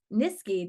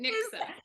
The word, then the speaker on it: Niksa: She's an intuitive sales coach, Nisky. Did I say that right? It's Niksa, but don't worry, everybody mispronounces it. Niksa.